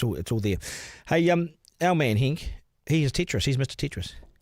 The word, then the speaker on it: Henk: Does he play Hank? I think so. Oh, Henk, sorry. Henk, yeah. This guy's loaded.